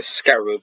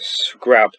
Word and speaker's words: scarab: So next one is the scarab, which I actually did in my last video. I pronounced it scrab. That's kind of cringe, but I'm just going,